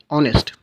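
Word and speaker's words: honest: तो, इसलिए होगा क्योंकि यह जो एच है यहां पे वो एच साइलेंट है। ठीक है? तो बाकी यह जो साउंड है यहां पर वह वोवेल साउंड आ रही है। ऑनेस्ट क्वेश्चन नंबर टू आप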